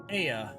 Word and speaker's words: Ea: When the vibration of vocal folds was still required to convey our thoughts, an intention, Ea, I believe, was the pronunciation used when referring to our people.